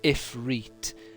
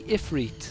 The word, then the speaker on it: Ifrit: ifriet so you would so you would say Ifrit like he does in the game oh God oh no no it's two eyes though isn't it isn't it um i f r i t Ifrit why would you pronounce the second a different to the first one foreign to the problem